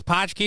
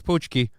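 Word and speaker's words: pączki: wild saffron saying poochki I guess pki is wrong it's poochki it's poochki accar poochki is the correct correct pronunciation says Brian s well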